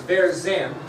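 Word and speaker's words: Vergennes: You pronounce that? Right here. Okay, it's Verzen.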